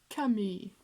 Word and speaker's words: Camus: That is my super perfect French pronunciation. Albert Camus.